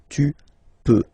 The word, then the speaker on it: peux: Okay, then tu peux. Same pronunciation and same spelling or writing. Okay, P-E-U-X. Okay, don't pronounce the final X. Tu peux.